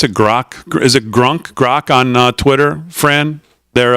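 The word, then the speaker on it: Grok: that how you pronounce it grock is it grunk grock on Twitter Fran their uh AI model yes that's the name of it grock right so I just said I just typed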